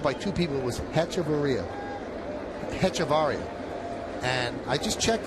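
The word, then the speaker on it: Hechavarria: Here's Adeni Havaria. Heavaria, I'm sorry. Count 0 and one. Now, I wonder that V's silent, right? In uh Spanish. Baria, right? The H is silent.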